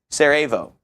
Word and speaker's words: Sarajevo: Sarajevo.